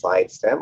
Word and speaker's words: Sidestam: morning good afternoon everybody my name is sidestem or this time it is my pronunciation of it uh so work with healing